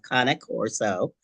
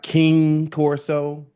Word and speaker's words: Cane Corso: the proper pronunciation of kanak Coro um what do you what is it okay well I'll tell you what is not first ready you go it's not king corso it's not Kanye Corso it's not not